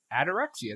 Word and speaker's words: Adorexia: Say it right for her. Adorexia. There's no N.